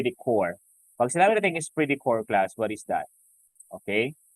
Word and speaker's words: esprit de corps: Pag sinabi natin esprit de corps, class, what is that? Okay, so that is pronounced as esprit de corps.